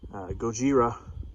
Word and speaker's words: Gojira: Gojira is the original pronunciation of the Americanized version of Godzilla.